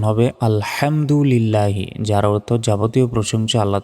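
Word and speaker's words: الحمد لله: অর্থ হবে আল্লাহ ধ্বংস হওয়া নাউজুবিল্লাহ মূলত এখানে উচ্চারণ হবে আলহামদুলিল্লাহি যার অর্থ যাবতীয় প্রশংসা আল্লাহ তাআলার সেই কারণে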